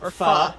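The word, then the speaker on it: pho: Lord Dominus wanted foe today. So um it's pronounced fa.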